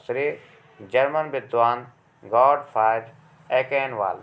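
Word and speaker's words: Achenwall: श्रेय जर्मन विद्वान गॉटफ्राइड एकेनवाल, देखिए इसको एचेनवाल भी पढ़ते हैं चूँकि CH स्पेलिंग इसकी होती है, और एकेनवाल भी पढ़ते हैं, ये थोड़ा सा यहाँ अशुद्धि है, यहाँ पर एकेनवाल है, गॉटफ्राइड एकेनवाल।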